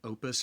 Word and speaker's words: Opus: And I will say their their newest model uh I think opus or oppus is the right way to say it.